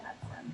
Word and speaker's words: Knudsen: she pronounced it with a K though, Ken Knudsen.